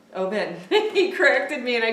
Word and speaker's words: Oben: I said his name wrong. Oben. Oben.